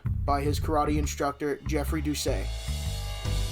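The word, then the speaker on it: Doucet: his karate instructor Jeffrey duay I'm pretty sure that's how they say it cuz it takes place in Baton Rouge and it's it's spelled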